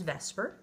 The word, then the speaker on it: VSEPR: old long word uh we fondly refer to it as vesper. Yes, I know that it's not phonetically pronounced like that, but we call it vesper because it's close enough. Uh, it states that the